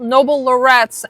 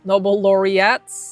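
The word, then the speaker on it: Nobel laureates: with Stephven Hawking and Noble Lorettes. All right, my boyfriend just told me I pronounced that wrong. Noble laurettes.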